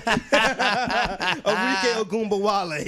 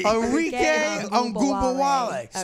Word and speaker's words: Arike Ogunbowale: Arike Ogunbowale. Arike Ogunbowale.